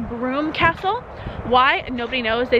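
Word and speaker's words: Brougham: but it's a Roman site and it's actually pronounced broom Castle why nobody knows they just decided for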